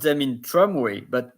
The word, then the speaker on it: tramway: Maybe you can translate them pronounce them in tramway, but normally you pronounce well the R, even if it's an English word, you say tramway.